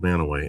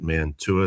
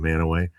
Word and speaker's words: Mantua: lived in a small town in Ohio called Manaway, Mantua. Most people pronounce it Mantua. That's how we know you're not from Manaway.